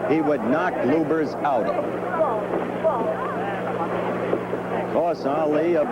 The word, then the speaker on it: Lubbers: against Rudy LS or lubers it's pronounced both ways luers is probably more technically correct anyway it's the way Rudy wants it said see how